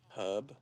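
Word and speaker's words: herb: Hub. Yeah. See, he does that, too. Throwing those H's in there.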